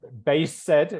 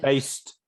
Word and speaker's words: based: It's Okay. not base said, it's one syllable, right? It's based.